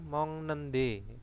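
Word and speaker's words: 먹는데: Mokta menjadi mong nende, bacanya mong ya.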